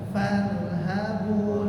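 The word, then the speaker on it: فَارْهَبُونِ: Maka kalau kita cek di sini ra-nya sukun, sebelumnya sukun, sebelumnya fathah, maka dibaca tebal. Maka dibaca bukan farhabun, tapi farha, dan jangan dipisah.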